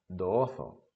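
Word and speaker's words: どうぞ: Notemos que se escribe dou, pero no se debe pronunciar así. Cuando encontramos un sonido con o seguido de una u, eso es una vocal doble y tiene que sonar o, doozo.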